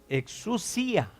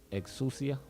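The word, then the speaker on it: ἐξουσία: Autoridad en griego Authority in Greek se pronuncia exousia. is pronounced exousia.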